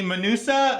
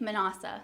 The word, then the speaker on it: Manausa: in studio with me Sammy manusa am I saying it right almost manasa manasa okay I'm so horrible